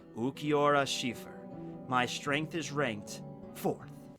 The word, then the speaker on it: Cifer: No, it's spelled with a C. Wait, what? Yeah, it's Cifer.